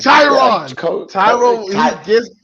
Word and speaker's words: Tyrod: Tyrod.